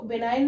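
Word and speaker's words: benign: बिनाइन kind hurted तो बिनाइन में एन से पहले जो जी है वो यहां पर साइलेंट है ओके नेक्स्ट वर्ड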